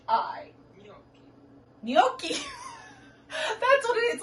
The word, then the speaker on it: gnocchi: n u c h c c h i gnocchi that's what it is like euro gnocchi okay